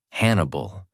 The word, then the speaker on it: Hannibal: For example, his name Hannibal rhymes with cannibal, evoking his disturbing desire to consume his victims.